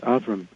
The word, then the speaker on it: Avram: And that's how she pronounced it, Avram. She's a Catholic woman from New England. She didn't say Abraham or anything like that.